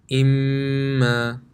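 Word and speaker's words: إِمَّا: Anytime you see a meme with a tajweed, so a meme mushaddad or a noon mushaddad, it will be read with ghunna. How does it sound? The examples are here. Imma, amma, ka'anna.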